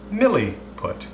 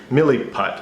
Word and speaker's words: Milliput: We are going to put some Milliput. I think that's how it's pronounced. This is called Milliput. Milliput, yeah.